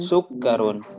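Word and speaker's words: سُكَّرٌ: Sukkarun. Oke. Kafnya tidak panjang ya.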